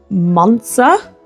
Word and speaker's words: Monza: I believe it's pronounced Monza in Italy.